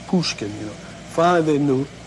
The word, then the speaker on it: Pushkin: ever hear of Alexander puskin they didn't understand what he was saying at first because they pronounced it Pushkin you know finally they